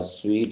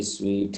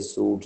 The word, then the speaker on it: suite: तो ये भी स्वीट है, इसे सूट नहीं कहना आपने।